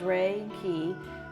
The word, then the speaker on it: Reiki: And I like to, you know, pronounce it as ray and keyi. Ray like the sunshine.